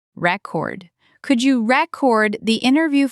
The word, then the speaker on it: record: That's the noun. I bought a new record. Vinyl is popular again, by the way. Okay. Chord. Like I have a record of all our meetings. Perfect. And the verb is record. Take the stress block and move it to the end.